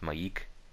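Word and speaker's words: M'aiq: Also, I think his name is pronounced Maik.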